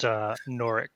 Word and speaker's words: Norwich: It's pronounced Norick. Norick? Oh, I don't know how to pronounce it really. Norick. Norick or Norwich, but yeah, it's more of a hard sound, I think.